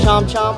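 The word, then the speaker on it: chôm chôm: word of that Cham Cham or you want to pronounce in Vietnamese jum that means rambutan this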